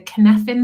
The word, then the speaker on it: Cynefin: And it's interesting because we've been looking at I have to pronounce this correctly, the Cynefin model framework as part of the coaching course at the moment, which looks at the VUCA element.